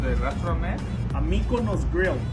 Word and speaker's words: Mikonos: the city hall city hall yeah how to pronounce the restaurant a mikko nose grill mykonos grill and malfunction in milpitas yes thank